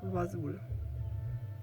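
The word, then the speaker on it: Vazul: then the name of the town which is pronounced estergo and finally the name of the ipad prints is wasul okay so that's all i wanted to share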